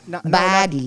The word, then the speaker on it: Baddie: How do you pronounce it? Baddie, right? Baddie. Not our beautiful body.